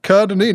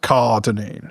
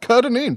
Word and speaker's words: Kerr-Dineen: You just nailed it, Kyle. Kerr-Dineen. If you asked my dad, it's the Kerr that's the issue. He likes to pronounce it Kerr-Dineen, even though it's not pronounced that way. It just sounds cooler that way. But you nailed it.